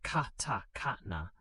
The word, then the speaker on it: katakana: Simplified phonetic scripts called hiragana, pronounced hiragana, and katakana, pronounced katakana, developed alongside Chinese characters.